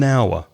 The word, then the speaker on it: hour: with a vowel no because the word hour begins with an H which is a consonant but it's not pronounced so it's the sound of the word that says if you use an or so it's an hour half an hour and